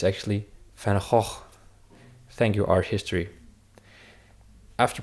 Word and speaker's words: Van Gogh: Many people think it's pronounced Van Gogh, which I also do now, but if you want to say it the real way, the Dutch way, it's actually Van Gogh.